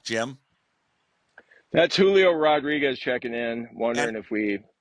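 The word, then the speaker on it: Julio Rodríguez: Y'all gotta start saying my name right. It's Julio Rodriguez. Y'all gotta roll your R's.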